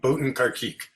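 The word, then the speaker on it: Botin Carkeek: It's Boatin Karkik.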